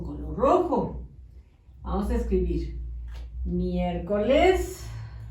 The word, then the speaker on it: miércoles: Vamos a escribir miércoles. Con acento en la primera E.